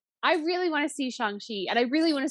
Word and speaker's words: Shang-Chi: Yeah, it should be pronounced Shang-Chi, but I don't think anybody's really going to get mad if you say Shang-Chi.